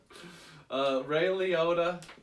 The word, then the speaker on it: Liotta: Ray Liotta, is that what you said?